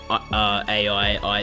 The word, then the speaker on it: AI: I think it's meant to be pronounced I because there's like a big emphasis on I, the characters, which means like love in Japanese.